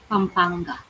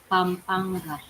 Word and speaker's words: Pampanga: I'm good at that, especially with that ng in there. I cannot make that sound.